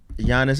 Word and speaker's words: Giannis: not even gonna try gianni's attention to kumpu yeah all right anyway his name is giannis and it looks like giannis if you don't know that there's a silent g who has a silent